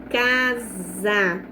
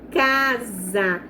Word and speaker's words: casa: cuidado que quando o S ele aparecer no meio de duas vogais, ele não vai ter som de S, ele vai ter som de Z, como na palavra casa, né? Eu falo casa, eu pronuncio za. Então, o som que sai da minha boca é do Z, sabe?